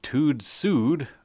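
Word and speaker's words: TÜV SÜD: test was conducted by tude sued I think that's how you pronounce it it's TUV with little dots over the U and sud with little dots over the U it Rhymes I'm sure anyways it's an independent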